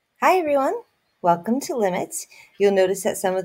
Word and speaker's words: lim: We just write L-I-M, but we still pronounce it limit. We never say lim.